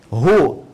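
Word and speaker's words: هو: Hu ini singkatan dari huwa. Huwa, dari mana taunya singkatan? Karena kalau kita wakaf dalam kalimat huwa, kita nggak baca huwa, bacanya hu.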